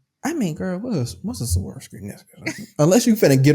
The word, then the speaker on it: Swarovski: The Swarovski?